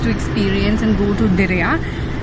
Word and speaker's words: Diriyah: We were originally supposed to experience and go to Diriyah. I hope I'm pronouncing it correctly. I think it's Diriyah. Do you know how they pronounce it? Diriyah or Darya? Diriyah. Diriyah. Diriyah. Yes, Thank you.